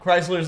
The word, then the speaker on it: Chrysler: Chrysler's the You don't pronounce the H in Chris or Chrysler. They're both CR.